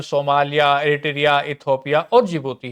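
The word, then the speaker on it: Djibouti: दरअसल जी जो डी होगा ना इसमें दोस्तों, ये डी साइलेंट रहता है, तो डी जिबूती नहीं बोलता, डी तो रहेगा चुप, जिबूती बोलेगा।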